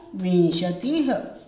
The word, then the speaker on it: विंशति: Mostly बच्चे विशंति बोलते हैं, विशंति नहीं बोलना, वी के ऊपर अनुस्वार लगेगा, श खाली है, विंशति, विंशति, ध्यान रखना है इन चीजों का।